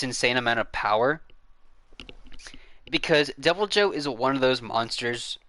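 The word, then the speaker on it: Deviljho: You're talking about Devil Eye Joe or sorry, Devil Joe.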